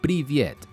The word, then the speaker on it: привет: Si quieres decir hola en ruso a tu amigo, amiga, novio o novia, se dice privyet. La forma de escribirlo te resultará algo rara y se escribe así.